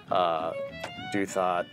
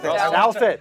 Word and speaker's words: Douthat: On Cantor, the one moment that sticks out to me was the YG event with Duthot. Is that how you say it? No, it's Ross Douthat. Douthat.